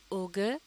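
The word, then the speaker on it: auger: इसे भी पहले ही लफ्ज़ की तरह पढ़ा जाता है, यानी ये उसका हम आवाज़ है ओगर, लेकिन इसके स्पेलिंग मुख्तलिफ हैं, ए यू जी ई आर, ओगर.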